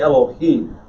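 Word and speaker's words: אֱלֹהִים: pronunciation you said elohim it's barely vocalized if you want to say elohim say it but make sure you say elohim and the faster you say that the less time you spend on that little tiny half vowel that's not really getting pronounced elohim right i guess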